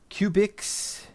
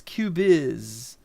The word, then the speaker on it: Cubyz: I've heard some people calling it uh Cubix and Cubis. I've heard a bunch of things. They're all wrong. As far as I can tell, it's Cubiz.